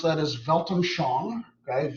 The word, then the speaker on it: Weltanschauung: The way you pronounce that is Weltanschauung, okay, Weltanschauung.